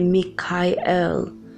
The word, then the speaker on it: Mikael: To call him, you say Mikael. You say it in, as close to the natural Hebrew as original, because Michael is a Hebrew name.